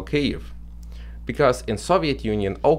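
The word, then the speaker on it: Kyiv: in Soviet Union was called Kiev 88 as the name they choose a rucified pronunciation of Ukrainian Capital cave because in Soviet Union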